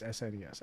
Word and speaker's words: SNES: Super Nintendo, or like, do you call it a SNES, or are you a retard and you spell it out? No, obviously Super. You know, or like SNES. Right? Yeah. Do you spell it out like a moron? Everyone agrees it's SNES.